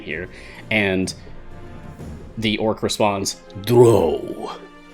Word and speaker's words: drow: Malion asks me how do I pronounce the word for dark elf? Okay, so I say drow.